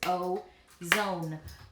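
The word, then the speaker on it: ozone: So that word is O, zone. O, zone. This first syllable here is open. There's no consonant after the O. It's going to make the long O sound.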